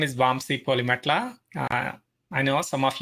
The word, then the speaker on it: Vamsi: And I'm hoping I'm pronouncing your name right. Is it Vamsi? Vamsi.